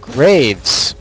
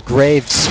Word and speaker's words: Graves: is better vane or graves and his graves with an s not a grave i'm sorry for mispronouncing